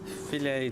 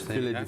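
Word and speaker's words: fillet: filets or fets sorry filet to fish fet fish yeah it's the one thing that American pronunciation is correct about it is filet not fet so again if I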